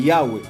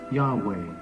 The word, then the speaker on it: Yahweh: Y ahí es donde entra el nombre del Todopoderoso, del Creador, de Yahweh, de Yud-Hei Bab-Hei.